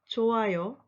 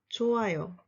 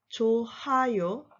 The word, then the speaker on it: 좋아요: With the final consonant 흐 meets a vowel, 흐 is not pronounced. It's silent. So you should say 좋아요, 좋아요, not 좋아요.